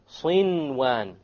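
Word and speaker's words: صنوان: Likewise, sinwan. No idgham. There's a noon sakin followed by a waw. Sinwan, sinwan. You pronounce the noon. In this case, the ruling would be idhar. You make it clear.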